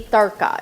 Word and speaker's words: tarka: That point of where you're putting in the whole spice into your oil or ghee is called in Hindi tarka. It's spelled T-A-R-K-A.